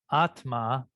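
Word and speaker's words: आत्मा: love yeah thank you atma the short a is the long a's okay atma is you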